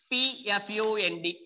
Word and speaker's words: Pfund: This is called as PFUND. We can say P fund series, or simply we can say fund series. Fund series. So it is the P fund series or fund series.